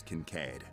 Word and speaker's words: Kincaid: Is that how you pronounce it? The name's Kincaid.